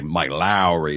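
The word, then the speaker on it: Mike Lowrey: reunion of Will Smith and Martin Lawrence as Mike Lowry and because you've got to say it that way Mike Lowry is how you say it because that's how Martin Lawrence pronounces it and uh Marcus Burnett and the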